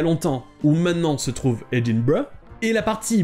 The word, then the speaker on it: Edinburgh: les deux prononcés barras edinburg donc en anglais britannique se prononce edinburgh et en anglais américains se prononcent edinburg donc voilà pour cet